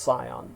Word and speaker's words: scion: Now, I know the word is pronounced scion, but then people can't find it in the dictionary. It's spelled S-C-I-O-N.